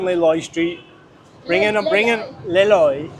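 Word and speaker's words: Lê Lợi: Bring in Le Loi. A foreigner always say Lonely Street. If you say it wrong, it means lonely street.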